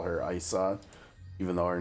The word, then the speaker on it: Ayisha: And so, like, since they don't have English voice acting, that's how her name is pronounced in the game, Isa.